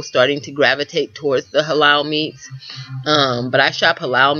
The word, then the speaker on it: halal: Halal, you know, it's spelled H-A-L-L.